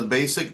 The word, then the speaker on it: Bassic: my business is the basic trainer and it's basic spelled with two s's like a string base so I tell people